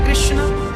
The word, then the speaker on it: कृष्ण: हां वेद मंत्र है यह शुद्ध उच्चारण इसका क्या है हरे राम हरे राम राम राम हरे हरे हरे कृष्ण हरे कृष्ण कृष्ण कृष्ण हरे हरे कौन सा मंत्र जप